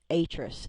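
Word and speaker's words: Atrus: found a letter from and I will say it correctly this time atus a t r u s uh to his wife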